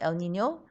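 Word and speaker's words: El Niño: some of these droughts are caused by the el nino phenomenon huh it's pronounced el nino and it means little boy right so this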